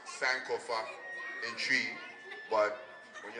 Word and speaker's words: Sankofa: And it's pronounced Sankofa in tree, but when you have a Canadian dialect, you'll say Sankofa.